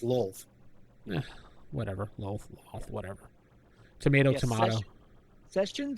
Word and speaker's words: Lolth: Venger kind of gloats a bit as he introduces Loth. Demon Queen of Spiders. Yes, and Actually pronounced Lolth.